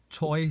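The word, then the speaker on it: Toei: anime films from a company called toy Studios and that's spelled t oei Studios from Japan and this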